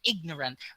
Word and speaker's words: ignorant: useful pleasure accidental accident sound the g in ignorant relative but relation then